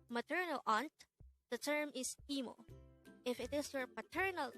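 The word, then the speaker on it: 이모: Aunt the term is emo if it is for paternal Aunt it is gomo IMO is pronounced as a two-syllable word the first syllable is e and the second syllable is Mo while KOMO is also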